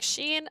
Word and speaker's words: Jean: can say their names I'm still saying Jean wrong right it's supposed to be Sheen like Jean like oh God I can't even say it right I know I'm saying